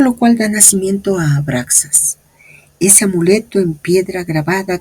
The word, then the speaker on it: Abraxas: Se pronuncia abraxas, lo cual es igual a 1 más 2 más 100 más 1 más 60 más 1 más 200.